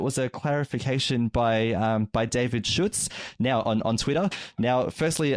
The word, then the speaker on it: Schutz: Now he made it easy for me because he said it's like Schultz without the L, and we know some Schultzes, so that was really good.